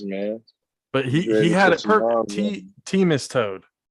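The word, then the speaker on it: Themistode: he's like everybody does he's like it's pronounced team is toad i was like all right hans team is toad uh the head writer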